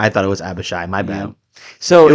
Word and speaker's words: Abishai: Abishai, I see where the confusion is. They both end in shy.